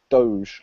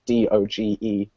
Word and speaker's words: doge: a very particular meme called doge or doggy or dog depending on how you decide to pronounce d-o-g-e um doge seems to be the the most accepted term that i've heard but what we're gonna